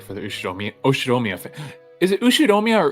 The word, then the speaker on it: Ushiromiya: music was inappropriate for the Ushiromiya Is it Ushiromiya or Ushiromiya? I think I've heard it pronounced Ushiromiya family, Okay.